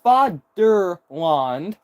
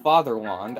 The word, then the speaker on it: Vaderland: Which I think is actually pronounced Fatherland. I think it's also pronounced Fatherland in German.